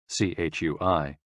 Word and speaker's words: CHUI: CHUI, pronounced like chui, with a forceful exhale, which is also associated with the kidneys.